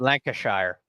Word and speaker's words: Lancashire: the West lanir someone's GNA tell me that's pronounced like oh for sure something completely different Lancashire Lancashire you idiot or like before we get